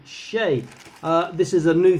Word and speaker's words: Shea: world shea figure though maybe some people pronounce it sheer it should be shay uh this is a